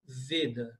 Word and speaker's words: Veda: A pronúncia é veda. Em português, veda, mas em sânscrito, veda. Com o e fechado.